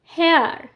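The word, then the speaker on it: here: পাইছি verb plus consonant plus verb তাহলে এর উচ্চারণ হবে এর সাথে আর ইটা নিজের স্বভাবে উচ্চারিত হবে দেখো হেয়ার H consonant plus vowel plus consonant plus vowel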